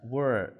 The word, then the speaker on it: where: Were onde? Acompanhe a pronúncia. Where? Onde?